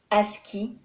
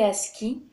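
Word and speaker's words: ASCII: du signal de caractère Aski prononcé à ski American Standard code information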